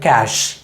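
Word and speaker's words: cache: பண்ணுங்கள் அப்படின்லாம் சொல்லுவோம் இல்லையா, அது வந்து கேட்சே கிடையாது, மாறாக கேஷ் கேஷ். ஸோ இந்த வார்த்தையை நம்ம கரெக்டாக எப்படி ப்ரொனவுன்ஸ் பண்ணணும்னா கேஷ் கேஷ் அப்படி தான் சொல்லணும், கேட்சே அப்படின்னு சொல்லக்கூடாது. கடைசியாக நம்ம சாப்பிடக்கூடிய அல்லது நம்ம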